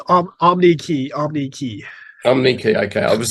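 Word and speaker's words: Omneky: Is that how we pronounce it too, by the way? Is that correct? It's Omnikey.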